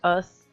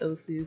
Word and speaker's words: osu!: I know it's pronounced us, but I've been calling it OSU for like 8+ years, so I'm gonna go ahead and keep calling it OSU.